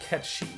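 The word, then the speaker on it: Cait Sith: sink here we meet ket she whose name is spelled Kate sit but it's a Scottish Gaelic name meaning fairy cat he's a strange cat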